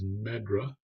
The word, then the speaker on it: MedDRA: regulatory activities and this abbreviated as meddra and you'll hear pronounced that way and then you'll also